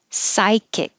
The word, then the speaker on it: psychic: the r position free psychic hold the k sigh kick hold it in the k position psychic now 9 the e